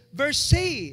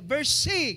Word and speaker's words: Versailles: itong palasyo na to, pag binasa nyo, Versailles, pero pag sila ang nagpo-pronounce nito is Versailles, Versailles, ganun po sila magsasalita ng lugar na to.